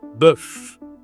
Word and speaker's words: bœuf: cette viande, c'est le bœuf. Bif en anglais, le bœuf. OK. Toujours le e comme l'œuf, la même voyelle pour prononcer ce mot, le bœuf.